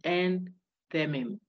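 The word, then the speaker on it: enthymeme: It is spelled endimim, but it is pronounced entemim.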